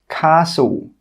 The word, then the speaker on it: castle: The letter T is not pronounced in these words. Castle, Christmas, gourmet, listen, rapport. In all of these words, we're not pronouncing that T sound. It is silent.